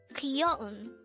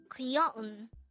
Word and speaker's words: 귀여운: Kyoun. Kyoun. This is pronounced as a three-syllable word. The first syllable is ki, second syllable is yo, and the third syllable is un.